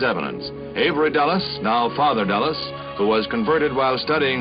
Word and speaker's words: Dulles: Dallas, you're right. The pronunciation is Dallas.